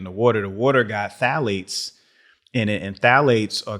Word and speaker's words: phthalates: They're called phthalates, but it's spelled with a P. P-T-H-L-A-T-E-S.